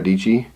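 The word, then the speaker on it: Dietschy: creative life with Sarah DG rhymes with PG she's got a YouTube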